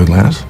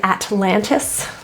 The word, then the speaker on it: Atlantis: gone at least point the T in the second Atlantis is an NT pronunciation and sometimes that t is dropped atlan Atlantis Atlantis rather than Atlantis Atlantis notice the upward